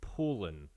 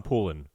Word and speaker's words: Poulin: It'll become Poulin here in Pittsburgh, but in Sherbrooke, it's Poulin.